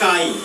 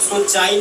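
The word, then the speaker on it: chi: करना पड़ेगा खींचना पड़ेगा इसी को पढ़ते हैं काई काई का स्पेलिंग होता है सीi चाई नहीं पढ़िएगा ठीक है काई होता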